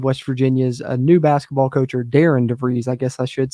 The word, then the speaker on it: Darian: like it's Daran but it's actually pronounced Darren for the first name and last name Dev